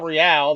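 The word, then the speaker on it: Rial: It started off with Mars Girl and Jamie Marchi, who's a voice actress, Monica Real, that's how you pronounce it, Greg Averies, which is a voice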